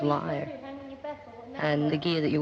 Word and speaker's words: lyra: It's a lyra, which is a European pronunciation of lyre.